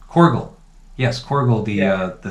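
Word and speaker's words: Korgüll: Oh, Corgal. Corgal.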